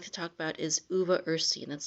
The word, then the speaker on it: uva ursi: And the first one I'd like to talk about is uva ursi, and that's spelled UVA and then the second word is URSI. 2 words, uva ursi, and it's been used for hundreds of years